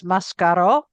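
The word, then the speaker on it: Mascaró: My my husband's surname is Mascaro, which in Spain was Mascaro with the accent on the O.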